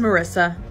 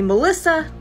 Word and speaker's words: Morissa: My name is Morissa, but I spell it weird, so a lot of people mispronounce it. They call me Melissa, and sometimes Martha.